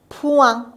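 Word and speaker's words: point: پوان او ای رو وا میخوندیم، این هم که تلفظ نمیشه، ای ان خودش وایل نزل هست، پس میخونیم پوان، نقطه.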